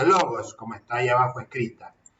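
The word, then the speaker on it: λόγος: Una palabra griega que se pronuncia logos, como está ahí abajo escrita.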